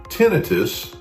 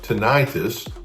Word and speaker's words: tinnitus: Tenitus pronounced tenitus or tonitis both are accepted is the perception of sound when no external sound source is present.